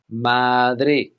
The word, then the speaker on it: Madrid: Now, firstly, we'll look at Spain's capital city, Madrid, but here in Spain, the locals would say Madrid, Madrid, Madrid, Madrid. And some people will even put a th sound on the end, Madrid.